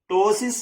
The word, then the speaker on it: ptosis: This condition is known as ptosis of kidney. P is silent.